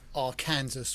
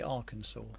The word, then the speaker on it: Arkansas: session of me to point out another mispronunciation oh god carlos said our kansas what he meant to say arkansas arkansas oh sorry moving